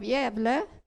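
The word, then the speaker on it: Gävle: you come to the seaport of yevle by the way galva is named after that city only pronounced differently and many of the constantists they sailed from yable to america okay we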